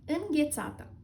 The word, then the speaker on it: înghețată: Ice cream in Romanian is înghețată.